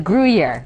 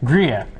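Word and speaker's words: Gruyère: It's a hard word to pronounce. So. It is Gruyere. Gruyere.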